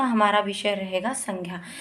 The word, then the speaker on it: संज्ञा: लेकिन हमारा जो हम ये बोलते हैं ज्ञ, हम इसको बोलते हैं संज्ञा। ग की साउंड निकालते हैं, ग की ध्वनि का उच्चारण करते हैं।